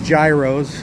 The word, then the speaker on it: gyro: also known as gyros. And yes, that's how you pronounce it. Gyro.